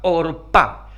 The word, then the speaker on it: Orpa: otra nuera de Noemí se llamaba orpa así pronuncian los que saben hebreo y orpa da la idea